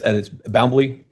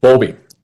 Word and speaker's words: Bowlby: Okay, and it's Boundley. I'm mispronouncing that. Bowlby. Bowlby.